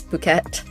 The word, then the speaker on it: Phuket: Fun fact, it's not it, it's Phuket.